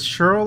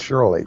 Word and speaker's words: Shirley: Is it Cheryl or Shirley? Shirley. I messed up. It's Shirley.